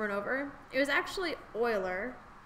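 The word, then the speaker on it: Euler: negative one over and over it was actually Oiler spelled e u l e r um pronounced oil Oiler um he's a famous mathematician he's responsible for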